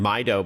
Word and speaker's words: Mydoh: And Mido, by the way, is spelled MYDOH.